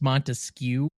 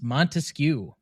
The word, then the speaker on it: Montesquieu: It's Montesquieu. Mm-hmm. Montesquieu. Montesquieu. That's not how it's pronounced in French. Okay, so now we're doing it based on the French pronunciation in this overly American show, but okay.